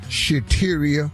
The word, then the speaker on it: Shateria: Shateria, that rhymes with cafeteria.